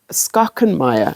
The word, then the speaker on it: Schachenmayr: And then I'm going to hold it with this schachenmayr. I think it's schachenmayr. Yes, Schachenmayr. Pronouncing it correctly.